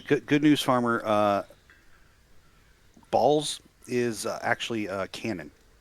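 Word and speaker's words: Bawls: can just uh good good news farmer uh balls is actually a Canon Y in Fallout I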